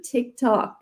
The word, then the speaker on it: TikTok: encore là, le T, j'entends, tu sais, moi je disais TikTok, le T très prononcé du québécois. Fait que encore là, j'entends un T plus subtil. TikTok.